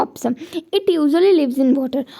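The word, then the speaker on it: ऑपोसम: ये थोड़ा pronunciation difficult है, इसे हम क्या कहते हैं, ऑप्सम।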